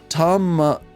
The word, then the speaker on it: Tamamizu: Tamamizu. Okay, yeah, it's Tamamizu, of course, because Mizu's water.